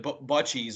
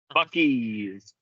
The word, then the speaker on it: Buc-ee's: See, the Midwest in me, I was gonna pronounce it Butchies or Boochies or something like that, but Buc-ee's, I guess. It's a hard C. Yeah, it's a hard C. Buc-ee's. You should be able to pronounce it just like your Buckeyes.